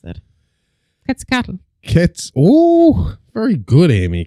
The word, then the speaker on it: Quetzalcoatl: I need to know how they pronounce it. Quetzalcoatl. Oh, very good, Amy. Quetzalcoatl.